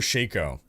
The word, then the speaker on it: shako: it shako or Sho people pronounce it different ways when I pronounce it Sho people are like it's pronounced shako and when I pronounce it shako like it's pronounced Sho so you you look it up it's a real word and both pronunciations are accepted so Kieran has four